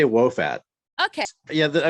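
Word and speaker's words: Wo Fat: So you're going to tell me, I call it Woofat. Am I saying it right? I say Wofat.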